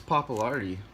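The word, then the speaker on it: Pappalardi: and this actually had Felix Papa lardy that's how you say his name multi-instrumentalist who went on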